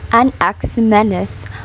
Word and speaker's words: Anaximenes: its life of a nexuminus pronounced an ax menace other than he was